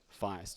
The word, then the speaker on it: Feist: the details author is Raymond E Feist so it rhymes with iced don't know what the